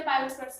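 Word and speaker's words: Biot-Savart: ये पूरा नाम है, टी साइलेंट होता है ना इसीलिए, ठीक है।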